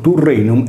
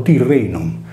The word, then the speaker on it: Turrenum: caso del mare Tirreno, che viene scritto in latino Turrenum e pronunciato Tirrenum. Seguendo una corretta trascrizione, il termine deve invece essere letto come Turrenu, senza la desinenza M finale del nominativo singolare, perché il sardo non